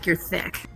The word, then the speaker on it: THICC: thick with two C's. THICC. Yeah, that's like You have to say it like thick.